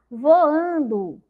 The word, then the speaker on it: voando: Então, a palavra voando, a sílaba mais forte é o an, né? A que demorou mais na minha boca, voando. Então, como essa sílaba que tem o som do U é fraca, eu não coloco o U, coloco o O, tá bom?